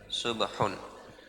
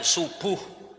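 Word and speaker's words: صبح: Subh subhun ya. Bukan subuh ya.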